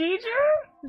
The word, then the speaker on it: Geiger: Oh, Geiger. Okay, hard G. I understand. No, what? Huh? You said hard G. What other? What did I do? Geiger?